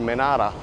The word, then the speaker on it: Menara: They call here tower Menara. That's how you pronounce it in Malay.